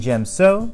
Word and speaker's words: Djem So: form for Ataru form five she Anna and gem so form six Niemann form seven giulio and the